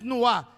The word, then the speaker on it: nuá: y produjo un nuá, no es nuá, N-U-A, acento en la A, es un nuá, produjo un nuá.